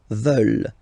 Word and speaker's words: veulent: And the last one, here, EU, and then ENT, classic ending, but then you don't pronounce it, so you get veulent. Veulent.